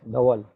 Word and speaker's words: Dhaval: So Deval, am I pronouncing that right? Deval? yeah. Okay, Dhaval.